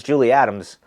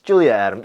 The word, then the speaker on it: Julia Adams: She loves Julie Adams. Did I pronounce? Yeah, it's Julia Adams. Julia Adams, excuse me. I always say Julie.